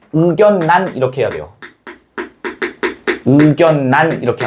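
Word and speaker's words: 의견란: 원래는 의결란 이렇게 해야 돼. 그런데 아닙니다. 왜? 둘 다 뭐니까? 한자어기 때문에. 둘 다 한자어예요. 얘도 한자어. 얘도 한자어야. 그럼 실제로 발음할 때 어떻게 해야 돼? 우견난 이렇게 해야 돼요.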